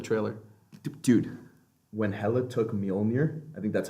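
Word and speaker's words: Mjölnir: Dude, when Hela took Mjolnir, I think that's how you pronounce it.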